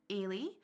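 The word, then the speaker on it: Aiwlie: events um so a is A's name is pronounced Al but it's spelled a i w l i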